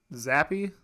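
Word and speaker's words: Zappe: series geesh and so up steps zappy is how you say it yep Bailey's happy Bailey's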